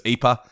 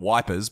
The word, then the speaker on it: Ypres: um but i typically refer to it as eepa um you can put it as if you like or anything else but and as we know the soldiers called it wipers because they couldn't pronounce it at all regardless however you pronounce